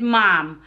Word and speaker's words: ma'am: the word ma'am ma'am the word ma'am honey here that ward in the Philippines we said it mom hi mom well that's